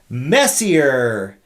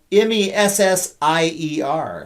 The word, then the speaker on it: Messier: maybe they didn't but it's messier but it's spelled m-e-s-s-i-e-r so maybe they got it from the one of the great soccer players of all times i don't know or maybe it's french and it's like messier messier it's not monsieur